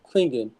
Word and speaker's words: Clingan: draft Clingan they're not going to draft cling Clingan or I think that's how you pronounce his name to be a backup yeah